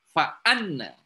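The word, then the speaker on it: فأنّ: Jadi kalau hamzahnya di bawah alif bacanya inna. Kalau ada kepala hamzah di atas alif maka membacanya fa anna.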